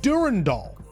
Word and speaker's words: Durandal: other posts too that sometimes at Bungie they say Durand or Durandal or Durand and other times uh some oldtimers who we must respect more uh pronounce it Durandall. Now, I think Durand Doll is closer to the original naming and why it was named.